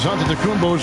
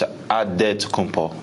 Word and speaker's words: Antetokounmpo: In the Nigerian way, you gotta say it with a D, so it's Antetokounmpo. But in the Greek way, you say it with the NT, like Antetokounmpo.